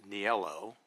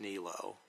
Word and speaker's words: Niello: In Italy, it's pronounced Niello, not Nilo.